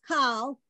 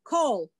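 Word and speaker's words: כל: the l sound if you read this as call i will tell you wrong wrong wrong wrong this word is pronounced cold the word means all and that's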